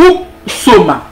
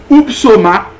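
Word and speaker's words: ὕψωμα: mot grec utilisé ici pour traduire auteur est oupsoma. Oupsoma. Lorsque Paul dit, nous renversons les raisonnements. Et tout auteur, auteur ici se traduit par oupsoma. Comment oupsoma s'écrit? Ou qu'a dit tout oupsoma? H-U. P-S-O-M-A. H-U-P-S-O-M-A. Upsoma et signifie une chose élevée.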